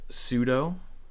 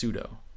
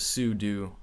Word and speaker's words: sudo: likes terminal and you're typing and you go sudo it's actually not pronounced sudo Ice pronounced su do and I'd never knew that so I'm a